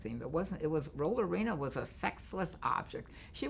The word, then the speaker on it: Rollerena: arena but I pronounced I actually spelled my name Roller arena like a roller skating rink arena but it was roll arena and it just another